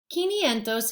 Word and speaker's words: quinientos: This sounds more like quince. Qui, ni, en, dos. Quinientos is 500.